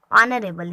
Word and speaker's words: honourable: ऐसा ले लेते हैं हॉनरेबल, ऑनरेबल इसको हम पढ़ते हैं HONOURABLE, ठीक है।